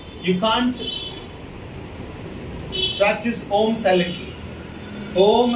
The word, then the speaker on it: om: can't practice om silently om has to be pronounced the sound has to be very clear so to pronounce this oh the very first thing that you have to do is practice m the long wavelength now we will